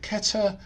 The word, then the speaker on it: Kether: general principles and ke is a Hebrew word Keta and it's spelled cfes and we put the vowels in